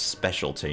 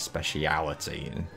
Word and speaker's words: specialty: weird because I mean that's not actually how you pronounce that word its specialty not speciality did you do that